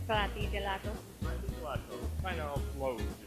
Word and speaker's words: Frati Gelato: Frati Gelato Cafe. There's no accent, so I can go with it. Frati Gelato.